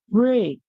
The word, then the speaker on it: break: go in this word the E makes the sound a so e and e can also say a like in the word break so the a makes a